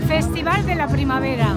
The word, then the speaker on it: Festival de la Primavera: How do I pronounce it properly? Festival de la Primavera.